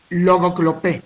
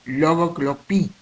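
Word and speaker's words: λογοκλοπή: Y del griego clásico, logoclopé, así se lee, pero se pronuncia, su fonética es logoclopí, y en castellano traduce copiar palabras.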